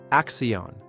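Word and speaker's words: acción: When you see an accent mark, stress that syllable. Action. Axion. Axion.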